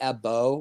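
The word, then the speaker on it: ẹbọ: when you say ebo is that is it pronounced ebo AJ because blood is AJ or AJ no we just say EO which means um sacrifice or appeasement okay you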